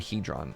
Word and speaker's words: hadron: I think I was pronounce with long a hron you've heard both hadron and hedron okay well I feel